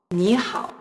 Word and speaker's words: 你好: But in 你好, you should still write the third tone mark above the vowel E, but when you speak, you should pronounce it as in second tone, like 你好, 你好.